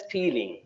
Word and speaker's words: stealing: It will be snake, not snack, snake, and you pronounced steading. It is not steading. It is the root word is steal. Steal means uh, চুরি করা আমরা জানি, তো সুতরাং steal থেকে আসছে তাহলে হবে stealing. Okay, otherwise your sa and sha is quite clear.